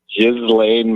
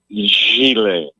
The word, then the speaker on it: Ghislaine: I hear people say Ghislaine Maxwell. Yeah. It's a French name, and it's pronounced Ghislaine.